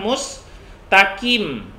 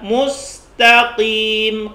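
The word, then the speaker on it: ٱلْمُسْتَقِيمَ: jangan mustard mustard mustard clean api juga jangan Mus Takim Pi kita kit dilatih terus ini mengaku rantai harus sering dibaca ihdinashirotolmustakim Mustang mustaqim team kopi kopi Hai mustadh'afin Pin juga jangan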